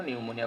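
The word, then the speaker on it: pneumonia: বাট উচ্চারণ করার সময় পিটা সাইলেন্ট রাখতে হয়। এজন্য নিউমোনিয়া বলি আমরা এটাকে।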